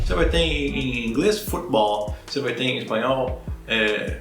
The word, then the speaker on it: futebol: Em português, a tônica, né, a sílaba forte dessa palavra não está no fut ou no fute, né? Está no ball. Se diz justamente em português futebol.